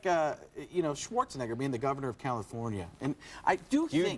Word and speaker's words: California: California. It's not Cali.